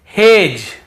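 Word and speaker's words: hedge: फिर देखिए हेज और वेज यहां पर भी डी को हम नहीं पढ़ रहे हैं।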